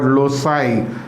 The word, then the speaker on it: loci: you will see sometime teacher using word loai l o s a i I think is the pronunciation and loai is plural